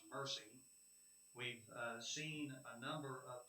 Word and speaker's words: MERCY: It is the consideration of the Murphysboro Economic Relief COVID-19 event, which is an acronym to be pronounced MERCY.